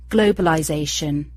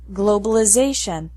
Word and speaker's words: globalization: authorization authorization globalization globalization the verb form of all these words ends in eyes in both British and American English it's pronounced globalize but British English continues this same pronunciation in the noun form globalization and American English changes the sound of the letter I globalization finally the t's sound